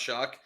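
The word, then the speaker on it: Shough: Show, but it's pronounced Shuck.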